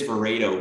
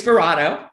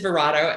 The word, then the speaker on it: Verato: who is vereto please sure it's verado oh i apologize for watching no worries at all no worries at all everybody it's pronounced every you know for every human there's a different pronunciation of it but it is verado and um so verado